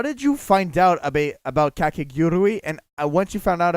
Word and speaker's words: Kakegurui: Am I pronouncing that correctly? Kakegurui?